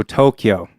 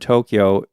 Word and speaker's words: Tokyo: So if you're looking at the word Tokyo in Japanese sounds, you got to, o, kyo, o. So it's actually 4.